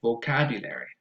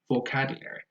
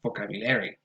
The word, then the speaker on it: vocabulary: Uh, and then the next word is vocabulary. The stress goes on the second syllable, vocabulary, vocabulary, and not vocabulary.